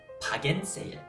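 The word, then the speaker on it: 바겐세일: So what you wanna go ahead and look out for, all those shoppers, is 박앤 세일. 박앤세일. Now, 박앤세일 is actually an English word that we pronounce in the Korean way.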